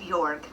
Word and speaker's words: George: me and my little brother George, actually pronounced Jorg, weasel.